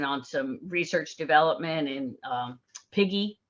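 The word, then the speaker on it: PIGE: some research development and piggy is how this is pronounced of uh it's another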